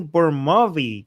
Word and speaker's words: Burmawi: We are here with Danny Burmawi. Did I pronounce it correctly?